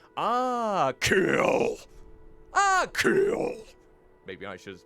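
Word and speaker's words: Achill: a bridge to the mainland aill okay it's pronounced aill like aill ah kill maybe I should pronounce it like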